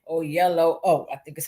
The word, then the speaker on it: Oyelowo: the Denzels and the David Oyelowo. I think that's how he taught me to say his name. Oyelowo.